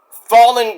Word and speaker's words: Fallen Gray: Like my girl, Fallen Gray. Not Fallon, it's Fallen.